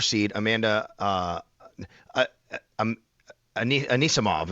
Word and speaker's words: Anisimova: She beat the uh fourth seed Amanda uh I I'm Anisimova is I believe how you say it.